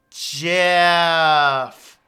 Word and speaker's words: GIF: the guy who actually created the format it's pronounced Jeff so I have a thing we're gonna do